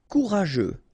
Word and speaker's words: courageux: Courageux, final X not pronounced. G-E-U together, they will give you this je, okay?